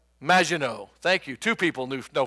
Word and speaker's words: Maginot: So I want direction on how to pronounce this word. M-A-G-I-N-O-T. Maginot.